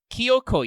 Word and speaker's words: Kyoko: t-rex but anyway uh kyoko yo you do not pronounce the j apparently i checked and it's uh two long o's so uh is an